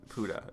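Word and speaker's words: Pode: They were very specific to say that's how it's pronounced. They should have gone with Pod, but right. or Pody, but Puda is actually how it's pronounced.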